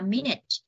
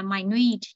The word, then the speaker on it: minute: Nếu đây là danh từ chúng ta đọc là minute. Còn tính từ nhỏ bé tí siêu tí ti đó chúng ta đọc là minute thì nó sẽ nhấn vần 2.